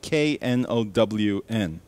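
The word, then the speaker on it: none: And that's spelled N-O-N-E, but sounds like K-N-O-W-N, known.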